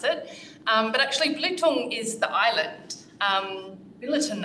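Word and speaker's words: Belitung: pronounce it but actually blutong is the island um Billiton Island where BHP got its name from they were originally there mining tin so it kind of sounds like Billiton but it's Bluetooth um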